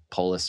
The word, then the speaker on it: Polis: state governor jared police is it police or police police i mispronounced that on good luck america sorry polis flax um connor cahill